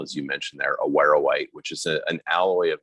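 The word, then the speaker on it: awaruite: A Wawerite, how is that how you pronounce it?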